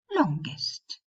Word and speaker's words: longest: Except for the comparative and superlatives longer and longest. They are exceptions to this rule. In these cases, you do pronounce the g. Longer, longest.